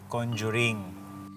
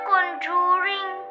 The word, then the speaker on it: conjuring: Kaya anak ang tamang pronunciation ay conjuring. I know that daddy. I said it to tita Jenny eh. Sabi niya, "Conduring."